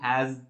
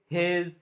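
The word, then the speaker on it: has: my friend হ্যাজ that novel yes my friend হ্যাজ হ্যাজ that novel yes বলো আমার সাথে ইয়েস my friend হ্যাজ that novel এবার বাঙালিরা আমরা সবকিছুকে হ্যাজ দ্যাট এগুলোকে হেজ দ্যাট এরকম অনেকেই প্রোনাউন্স করতে দেখি আমি সো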